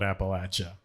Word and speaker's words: Appalachia: I'd like to start by saying it's nice to be somewhere where Appalachia is pronounced correctly. I spend a lot of time on podcasts hearing different variations of Appalachia, and I was like, it's for the folks that live here, we call it Appalachia, and so anyway, sorry, sir.